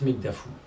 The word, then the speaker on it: Mekdafou: Alors moi c'est Mekdafou. Mekdafou. pour. Et Mekdafou MEKDAFOU. 3 syllabes. Mekdafou.